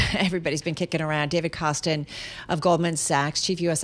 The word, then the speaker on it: Kostin: David Kostin is brilliant. His name almost rhymes with David Bahnsen, and I've been saying this for several years.